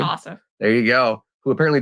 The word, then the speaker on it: Ossoff: Ossoff.